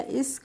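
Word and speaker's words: echo: नहीं पढ़ेंगे तो एस सी से हो गया इक और डबल ओ एल से हो गया ल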